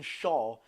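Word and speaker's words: Schär: I've been getting some stick recently for saying Fabian Shaw instead of what is morally the correct pronunciation of Shaw's name, Fabian Shaw.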